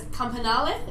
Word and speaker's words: Campanale: I believe it's Campanale is how I say her name properly, a previous Adelaide City girl.